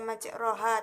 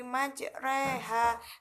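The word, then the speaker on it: مجراها: Robbi kholaq Thoha dapat dalam lafadz bismillah imaj WH tidak dibaca majroha tetapi majreha karena dicondongkan atau dimiringkan selanjutnya yaitu ismam Bisma adalah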